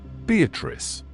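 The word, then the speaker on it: Beatrice: Note Beatatrice. I use this word as it is pronounced in the Italian as consisting of four syllables of which the third is a long one.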